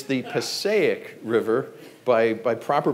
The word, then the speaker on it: Passaic: Passaic River now if you're from there it's pronounced the Passaic River you got to put the shoulder into it it's northern New Jersey it's the Passaic River by proper pronunciation but growing up there